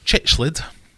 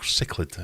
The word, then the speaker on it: cichlid: So question 1, how many species of cichlid, or cichlid if you pronounce it like that, are there estimated to have been recorded?